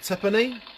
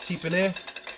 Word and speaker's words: Tipene: These guys are one of the guys at work always calls me Tiffany because that's how it's spelt, pronounced tipene.